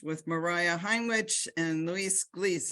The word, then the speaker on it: Gles: Mariah Heinrich and Luis Glees. Is that how you pronounce your name, Glees? So I'm from Colombia, so we pronounce Glees.